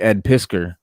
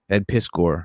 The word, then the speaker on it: Piskor: and uh we interviewed ed pisker who is the ed piskor is how he pronounces it is the guy